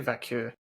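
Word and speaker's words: Vaquer: Um, after that, you got Vaker. And I know that's probably not how you say your name. I That's how I'm going to say it. How do you say it? I say Vakur.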